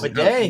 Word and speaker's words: Bidet: No word on Tyler Bidet now, apparently, which is Bidet. We all found that out in his breakout game against the Buccaneers. We found out that he pronounces it Bidet now.